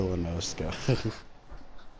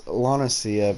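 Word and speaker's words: La Noscea: I don't know why, but I've been calling Lanacia Lanoska. I mean, it could be. I don't think I've heard anyone in the game pronounce it. It's Lanacia because I've heard whatever the leader of Limsa is pronounce it in one of the earlier cutscenes.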